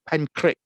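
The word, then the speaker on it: Pentrich: to say it uh penn crick pentrick as in crick because pentrick is a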